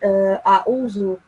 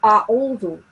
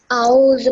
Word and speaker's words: أعوذ: أعوذ بالله من الشيطان الرجيم. No, that was wrong. أعوذ. Make sure that you pronounce the ayn sound from the throat.